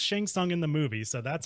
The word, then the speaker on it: Shang Tsung: the name someone correctly it's actually Chang it's pronounced shang tsung in the movie so that's how it was